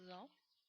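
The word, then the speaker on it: あ: there G the a it's pronounced as in Father a g it's not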